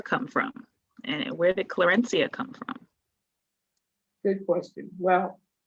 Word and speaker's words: Clarencia: They pronounced his name with a hard C, Clarencia, something along those lines.